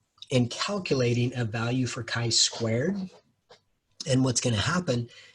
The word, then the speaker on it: chi-square: So that's chi-square, and it's pronounced chi-square, not chi like the T.